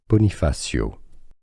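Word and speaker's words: Bonifacio: In Corsica, French island, the French pronunciation, Bonifasio.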